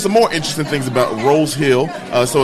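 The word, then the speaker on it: Roe's Hill: It's called Rose Hill because the city clerk made an accident in the paperwork, and rose spelled like a flower rose. Okay, when really it's Rose Hill, ROE apostrophe S Hill, because that was for the farmland.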